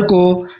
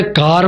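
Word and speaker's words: car: और ब्रिटेन में फादर को फादा बोलते हैं, फादा। उसी तरह से कार, अमेरिकन इंग्लिश वाले कार बोलते हैं, र का उच्चारण करते हैं, और ब्रिटिश इंग्लिश वाले का बोलते हैं, my father is इन अ कार।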